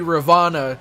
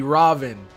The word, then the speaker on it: Ravana: god or goddess, but I'm pretty sure many of the gods whose names end in A, you don't pronounce the A. So it wouldn't be Rama, it'd be Ram. And it wouldn't be Ravana, it'd be Raven.